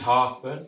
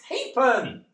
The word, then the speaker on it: Halfpen: Harburn." Why do THEY DO THAT? IT'S NOT HARBURN, IT'S HAPEN. I know it's spelled Harburn, but it's Hapen.